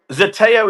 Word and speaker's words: Zeteo: before we go, man, tell me what does Zetio mean? Is that the correct pronunciation? Zetio? Zeteo is an ancient Greek Zeteo.